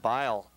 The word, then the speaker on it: Bile: And just so the fans understand this, Eric Barrow, his name should have been pronounced Bile.